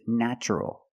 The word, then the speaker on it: natural: The first syllable is pronounced with a short A, like black cat. Na, natch. Natural.